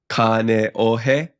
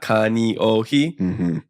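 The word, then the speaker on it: Kāneʻohe: Yeah, so it's a e o u, which is the same as a lot of other foreign languages as well. So haole, haole, you know, wahine, wahine, kane ohe, not kani ohi.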